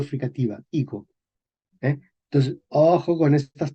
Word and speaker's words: higo: Es una G fricativa, higo. ¿Eh? Entonces, ojo con estas palabras que son difíciles, ¿verdad? Se escribe con F, medieval, se pronuncia con H. Español moderno, escribimos con H, pero no pronunciamos la H.